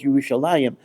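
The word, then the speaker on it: ירושלים: We pronounce it. The Kri is Yerushalayim, but it actually does not have the yud. It's Yerushalem in terms of the consonants in the word.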